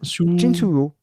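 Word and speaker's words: Chin Siu-ho: Li, et Tian Bao, qui est joué par Chin Suyo. Non, c'est comment tu le prononces toi? Chin Suyo.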